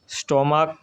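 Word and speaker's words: stomach: স্টমাক এর last যেই সিএইচ এর উচ্চারণটা সেটা হলো ক এর মতো, তাই এটা হচ্ছে স্টোমাক্স।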